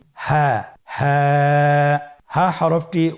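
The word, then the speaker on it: هاء: হ্যাঁ হরফটি উচ্চারণের স্থান কণ্ঠনালীর শুরু হতে, অথবা আমরা যদি আরবিতে বলি হলকের শুরু হতে এই হরফটি উচ্চারিত হয়।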